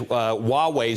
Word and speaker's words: Huawei: Now, Huawei, it's spelled H-U-A-W-E-I, but it's pronounced Huawei.